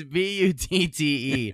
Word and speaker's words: Butte: items, including an American flag labeled, it's not pronounced this, but Butt Valley Stone Cabin. Oh, fuck yeah. You B-U-T- sure wasn't. You gotta spell it out. It's B-U-T-T-E.